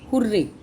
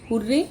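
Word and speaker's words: hurray: जैसे हुर्रे. हुर्रे ये जो वर्ड है हम इसको दो तरह से प्रोनाउंस करते हैं, हुर्रे या हुर्रा, दोनों ही ठीक है.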